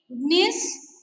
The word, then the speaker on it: gneiss: Examples are marble, slate, gneiss and quartzite. How will you pronounce this, children? G is silent, gneiss.